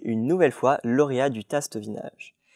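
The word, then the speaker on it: Tastevinage: nouvelle fois lauréat du tastevin âge et ce n'est pas une faute d'accent c'est la bonne prononciation en effet le marché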